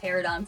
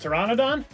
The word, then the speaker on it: Pteranodon: ever say pterodon flyers I think we've just been missing a syllable of this word so I've been saying it wrong my whole life it's Pteranodon I guess we've all been saying it wrong that's what I'm saying like this is the first time I've seen it I guess yeah just the n o has always been silent for me pterodon yeah that's what